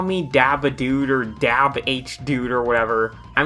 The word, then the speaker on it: Dabhdude: Just call me Dabhdude or Dabhdude or whatever. I mean, yeah, the shortened version is supposed to be Dub, not Dab, because, wow, it's almost like this was made before the Dab was a thing.